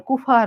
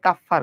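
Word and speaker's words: Kupffer: যেমন যকৃতের কুফার কোষ কিরে কুফাটা কে লাগাইলো কুফা না এটা আসলে কাফফার কোষ ঠিক আছে তো গাজী আজমল স্যার জানো টাইগারে উচ্চারণ করছে কেমনে টাইগারে উচ্চারণ করছে কুফা বলে যাই হোক তো যকৃতের কুফার হবে না আসলে কাফফার কোষ বলা হয় আমরা জানি যোজক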